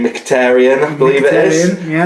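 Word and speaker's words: Mkhitaryan: and I always struggle to say his name mkhitarian I believe it is yeah that's cor well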